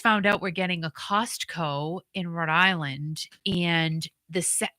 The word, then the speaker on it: Costco: I say Costco because I say it like in two words but it's really one it's Costco but I can't say I say Costco so it's going into